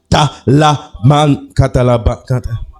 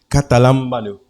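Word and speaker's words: καταλαμβάνω: Le mot saisi, en grec, veut dire katalaman. Attendez, mot pas grec, mais mot bien chic, mot prononcé. Katalambano.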